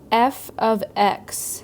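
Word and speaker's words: f(x): it it is pronounced f of x f of x not f times x even though it looks like that because of the parentheses it means the value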